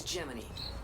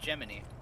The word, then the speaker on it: Gemini: later when we're safe I guess it's pronounced geminy I mean I literally like talked about that's what the joke is it's it's like the it's the word g Gemini but it pronoun geminy like the